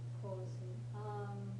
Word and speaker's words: 香水: You just be careful your pronunciation. 香水. It's an extended vowel.